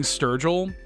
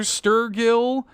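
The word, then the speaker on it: Sturgill: know how to pronounce my last name. So they would be like Mr. Sturggill, Mr. Sturgile, Mr.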